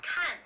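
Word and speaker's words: 看: actually really good except the mispronunciation of one character khan which means to see he pronounced it which means to do the sentence so yeah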